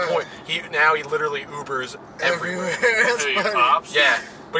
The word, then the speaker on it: Uber: he now he literally ubers yeah but he doesn't pronounce where he says Huber yeah all the folks say that I'm like dad it's uber ease I know no I'm sad Huber like that uber is